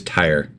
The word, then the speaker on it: Tyre: while you're going over that information it is Tire see that makes sense since so I apologize